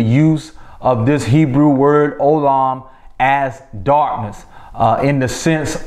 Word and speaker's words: Olam: But what we learned about that Hebrew word, which is spelled O-L-A-M, Olam, that word Olam can be translated to